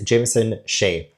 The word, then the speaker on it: Jameson Sheay: And also, the author's name uh is Jameson Sheay. That's how you pronounce it.